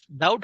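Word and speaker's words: doubt: डाउट शंका बघा डाउट डाउट हा शब्द बऱ्याच मुलांचा चुकतो स्पेलिंग आहे डी ओ यू बी टी डाउट या शब्दात बी हे लेटर सायलेंट लेटर आहे नेक्स्ट डी यू एम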